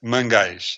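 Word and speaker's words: Mangais: of the resort is Mangis. Am I saying it right, Antonio? Absolutely. M A N G A I S. Mangish.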